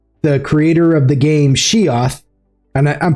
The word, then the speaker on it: SHIATH: But um I'm being joined here by the creator of the game Sheth and I'm pronouncing that right? Right. Yep. She yep. Yep. I'm Sheth.